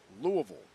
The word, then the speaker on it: Louisville: How do you say it? Louisville. Not a boy.